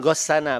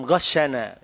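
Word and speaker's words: غشنا: Kemudian tadi mungkin Habib bisikin saya tadi waktu Anda membaca man ghassana, bacanya begitu. Padahal man ghassana, ya al-ghish, falaysa minna, pakai sin mu'jamah gitu ya.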